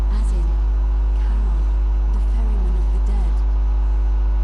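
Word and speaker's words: Charon: It's just as you described it, only your pronunciation is a little off. The name you heard wasn't Karen. It was C H A R O N. As in Kon, the fairyman of the dead.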